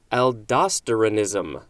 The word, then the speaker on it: aldosteronism: me many tries to figure out how to pronounce aldosteronism a-l-d-o-s-t-e-r-o-n-i-s-m whoo that is a mouthful this is